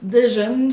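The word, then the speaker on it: Degen: Deegan, je pense. Deegan. Ça s'écrit D-E-G-E-N.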